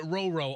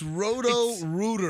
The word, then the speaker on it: Roto-Rooter: I've been pronouncing it Roro, R-O-R-O, and it's R-O-T-O. I'm It way is. off. It's Roto-Rooter.